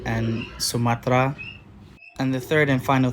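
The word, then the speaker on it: Sumatera: And sometimes E just isn't pronounced, like in Samudra and Sumatra.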